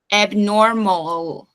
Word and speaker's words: abnormal: força então avental jornal no inglês o l tem o som de L então a minha língua ela tem que vir atrás dos meus incisivos ela tem que fazer esse movimento então abnormal Ó tem que subir isso vai dar naturalidade na pronúncia também Ok nos dons nas